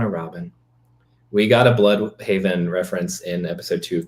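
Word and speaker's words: Blüdhaven: It It's Yeah, Blue Haven. Very German sounding the way. Yeah, it's Blude Haven. And I was like, "No, no, no. It's Blood Haven, guys." Blood Haven.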